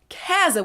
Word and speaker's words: Käse: Or the word for cheese that I personally and also many other people pronounce more like Käse than Käse, which is how it's spelled. So it's spelled Käse, but I usually say Käse. Käse, Käse. And then the Ä umlaut